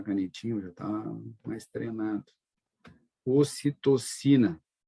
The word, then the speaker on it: ocitocina: Vocês podem também ouvir falar em oxitocina, com X ao invés do C. Tudo bem, não tem problema, é da tradução, né? Que em inglês é oxitocina, tá? Se escreve aqui com X, mas ocitocina.